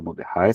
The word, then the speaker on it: Mordechai: o nome dele, Álvaro Moderrai. Vocês vão encontrar muito material bastante interessante, então dê uma olhadinha depois lá no YouTube. Moderrai se escreve Mordechai, com C-H-A-I no final, Mordechai.